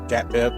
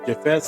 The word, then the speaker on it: Japheth: It's PH, Japheth or Japheth, however you want to pronounce it.